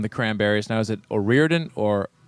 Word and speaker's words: O'Riordan: Now, is it Orian or Orordan or how do you say your last name exactly in the full Irish? Come on. I say Orian.